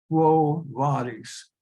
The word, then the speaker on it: Quo Vadis: Now that is pronounced Quo Vadis in Latin. The V always has a sound of W. Short I has a sound of a long E.